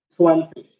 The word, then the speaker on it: zwanzig: Sir, Z is pronounced as sir, so it is Swan. and again Z, Sig. G also or IG at the end can be pronounced as ish, swanfish.